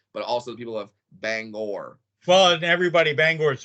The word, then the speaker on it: Bangor: Bangor, not Banger.